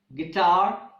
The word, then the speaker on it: guitar: you like building guilty guitar guild and guys in these words letter U is silent the words guests and